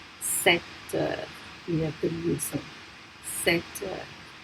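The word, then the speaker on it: sept heures: And remember that we don't pronounce that P. 7h.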